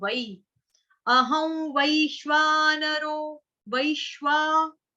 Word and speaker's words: वै: अहम, अहम, अहम वै। अभी वै है ना यहाँ पे लिखा, हिंदी में बोलेंगे वै, संस्कृत में बोलेंगे वई, वई, वई।